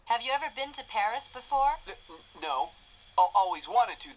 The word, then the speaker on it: Paris: wow so this is Paris I can't believe that I've never visited the capital of France before yeah well the locals pronounce it Pari Carmen's conducted a lot